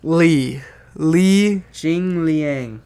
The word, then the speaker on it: Li Jingliang: Sorry about that, Muslim, but yeah, beat Andre Fiallo, lost to Li Jingliang. Whatever, man. I'm so bad at names. Li Jingliang or something like that. There's no Jingliang. Jingliang. Li Jingliang.